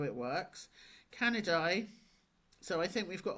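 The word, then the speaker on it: Canidae: This is pronounced canidai. Now, you don't have to remember these, but it's good to kind of understand how it works. Canidi.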